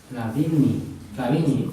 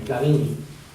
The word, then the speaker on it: Flavigny: Flavigny. La G y la N se pronuncian en francés como L. Flavigny.